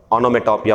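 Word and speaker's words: onomatopoeia: ओनोमेटोपिया आता है एक, तो ये होता ONOMATO, ओनोमेटो, POEIA, ओनोमेटोपिया, ओनोमेटोपिया पढ़ेंगे इसे, ठीक।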